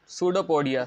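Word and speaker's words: pseudopodia: projection process इस called सूडो पोडिया सूडो पोडिया में P silent होता है अब जैसे मैंने आपको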